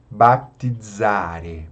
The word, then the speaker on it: baptizare: E o Z tem o som de DZ. Dz, dz. Baptizare, baptizare.